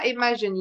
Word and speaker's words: imagine: بصوا حرف الجي في الانجليش عندنا ما بيجي بعده حرف الاي او الاي او الواي، اي او اي او واي، بيتنطق ج ج. اوكي، بيجي اي بعد اي حرف تاني بيتنطق ج عادي. تمام، هنا imagine الجي بعديها اي فتنطق ج، imagine.